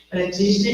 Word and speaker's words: Practitioner: da programação neurolinguística, PNL, é Master, Prautner, assim pronuncia, Practitioner em hipnose, sinapse.